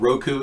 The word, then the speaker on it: Roku: we have a Roku everybody pronounces a different Rico Roku Rico rope Rico I think Roku is the correct pronunciation yes yeah I would